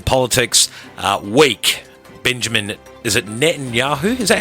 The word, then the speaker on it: Netanyahu: And in politics, weak Benjamin, is it Netanyahu? Is that how you say it? I think you said that well, Netanyahu.